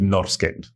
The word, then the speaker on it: Norrsken: But having been through the experience with Babylon, it's like, no, how it looks, that's how you're going to pronounce it. Like, if it needs to be someone in Rwanda who has never been to Sweden or heard an interview with the founder of Norrsken Foundation or any Swedish pronunciation, they need to be able to read it.